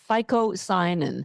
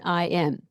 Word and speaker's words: phycocyanin: It's called phycocyanin. I'm going to spell it for you because I encourage you to Google it. Okay. It's phycocyanin.